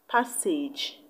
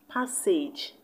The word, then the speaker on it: passage: You see, despite two of them having the same spelling in the last syllable, they both have different pronunciations. And the option that the last syllable sounds like the last syllable of the given word is option B, passage. The A-G-E in message sounds like the A-G-E in passage.